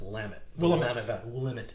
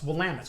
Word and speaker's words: Willamette: or something like that try to pronounce Willamette. Willamette or something like that. It's like no, it's Willamette.